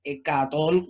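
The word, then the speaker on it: ἑκατόν: 100 sería rho prima, la manera en que se escribía como numeral, y cómo se pronunciaba hecatón, son 100, ¿no?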